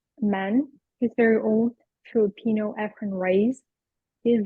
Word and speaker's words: Efren Reyes: Efren Reyes.